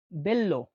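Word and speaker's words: bello: বি কে উচ্চারণ হয় বি হিসেবেই। তো উদাহরণ হচ্ছে বেল্ল।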